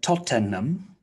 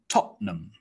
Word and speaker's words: Tottenham: nottingham next one's interesting looks like tottenham tottenham but usually we just say tottenham tottenham and the last